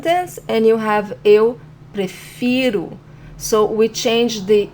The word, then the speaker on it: prefiro: So again, this is eu prefiro, and the stronger syllable is fi, eu prefiro.